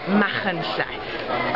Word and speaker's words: Machynlleth: So if we could do a quick how to pronounce. Okay. It's Machynlleth. Okay. So because CH is and then LL is. So it's Machynlleth.